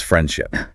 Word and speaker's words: friendship: In the phrase friendship, that D is often so lightly pronounced it's practically invisible. It becomes friendship. A learner who forces out that hard sound there just breaks the natural rhythm of the phrase.